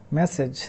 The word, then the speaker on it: message: So this is message. This G is actually jaw, message, and this S is actually S, so message.